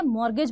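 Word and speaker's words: mortgage: आते हैं वो है मॉर्गेज देखो बहुत सिंपल है यहां पर टी साइलेंट होता है ठीक है मॉर्गेज बोलते हैं हम लोग इसको मॉर्गेज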